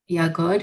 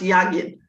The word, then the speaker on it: Yagid: And all of these modalities that Yagod, is that your name? This is Rebbetzin Yagid. yeah. It's actually pronounced Yagid.